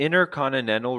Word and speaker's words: intercontinental: There's actually two T's that should be read in intercontinental. One, two, three. Three T's that should be read. Intercontinental. Intercontinental. We don't pronounce any of those T's.